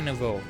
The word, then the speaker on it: Nouveau: Right, so we'll quickly go do that, and then we'll go deal with Team Nova Flare. No. Team Flare Nouveau. That's how you say it.